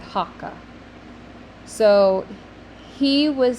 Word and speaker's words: hoc: to say this is hakka hakka it's actually spelled hoc but it's kind of pronounced with a little uh at the end hakka so he was saying